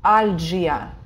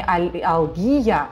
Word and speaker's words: algia: Algia, pain, не алгия, как вы привыкли, там, невралгия, да, например, по-русски. Нет, это algia, потому что вы уже знаете, что это G.